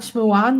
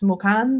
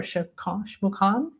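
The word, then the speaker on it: Xmucane: So it's not Shmuan, like I said in the beginning, Mucane, and the X in Maya is pronounced Orsa, so it's Smukan or Shmukan.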